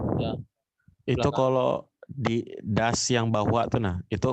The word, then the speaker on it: das: kalau di das yang bawah tuh nah, itu kalau S-nya 2 tuh dibacanya pendek kah, Pak? Ya, jadi A-nya tidak usah dipanjangin, jadi das gitu.